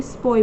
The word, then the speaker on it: Sepoy: सिपाही बोलते हैं, ये स्पॉय बोलते थे। इसलिए अगर आप देखोगे बुक में लिखा हुआ स्पॉय, SEPOY, सिपॉय। तो बेसिकली वो हाँ जैसे इंडियंस सिपाही बोलते थे तो वो इसको प्रोनाउंस करते सिपॉय, ठीक है।